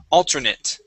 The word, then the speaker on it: alternate: Now, with the uh the a te here at the end, we actually pronounce that like a short i and a t. Alternate.